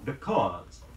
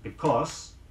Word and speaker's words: because: Because, B-E-C-A-U-S-E. Not because or because, but because. Huh.